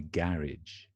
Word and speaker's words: garage: overhead anyway forget that garage in the UK and then we also say garage right that's also another alternate pronunciation in the UK garage so I say Garage Band